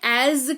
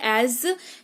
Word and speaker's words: as: जैसे इस्तेमाल करते हैं एज का एस यहां पर भी लगा हुआ है लेकिन उच्चारण इसका ज ही होता है है एज जैसा मैं कहता हूं करो डू एज आई से कोशिश इस्तेमाल